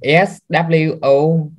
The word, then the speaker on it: sword: saw spell it star s-w-o-r-d sword like no W right so you or sword